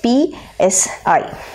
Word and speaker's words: psi: this is called a psi, the wave function. It is called as PSI. Okay, psi. Fine. P is silent.